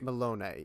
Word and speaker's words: Melone: I'm trying to remember how you pronounce it. Malone? Malone, yeah.